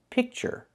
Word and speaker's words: picture: The first word is pronounced picture. The ure makes a sound like burger. Picture.